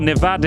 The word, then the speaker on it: Nevada: the stay out in Nevada or Nevada if you want to say it like the locals do snaring up the strip